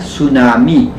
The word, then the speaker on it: tsunami: Ang tsunami po ay binibigkas ng tsunami. Silent po. Hindi po tsunami. Hindi po tsunami kundi tsunami.